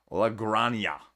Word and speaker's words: La Granja: out if you're interested la grania because i screwed it up pronouncing it last week because it's spanish i should have known that j is pronounced differently so it's a deluxe